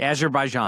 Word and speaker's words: Azerbaijan: And are you still are you going to Azerbai? I can't even pronounce it. Azerbaijan. Azerbaian.